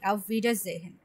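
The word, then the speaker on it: Auf Wiedersehen: না না আমার কথাটা শুনুন, ভে এটা, আর হচ্ছে এ ই পাশাপাশি বসলে ই এর মতো উচ্চারণ হয়। আউফ ভি, তারপরে ডা, এ আর একসাথে বসলে আয়ের মতো উচ্চারণ হয়। আউফ ভে ডা, এ সিঙ্গেল বসলে জয়ের মতো উচ্চারণ হয়, জেহেন।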